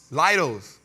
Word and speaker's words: Leidos: Now, I never can pronounce this right. Leidos? Leidos.